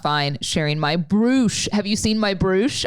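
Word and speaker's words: Bruush: okay so bruce uh it kind of looks like brush it's b-r-u-u-s-h with a cool little accent over one of the u's but it's actually pronounced bruce and so this is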